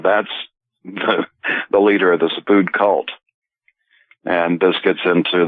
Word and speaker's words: Subud: Subud. Okay, it's spelled S-U-B-U-D.